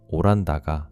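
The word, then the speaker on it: オランダ: 일본인들 발음으로 홀랜드가 오란다가 된 거고요. 근데 왜 이 이야기를 하냐면 17세기 암스테르담을 뭐라고 했냐면 네덜란드의 예루살렘이라고 불렀습니다.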